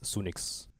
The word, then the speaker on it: Sunix: So, if you take the literal like pronunciation of it, it's just Sunnix.